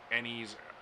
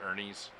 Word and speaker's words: Ennies: I always get told I pronounce that wrong. Ennies. I think I used to pronounce it Ernies, because somewhere in my brain it was Ernie's.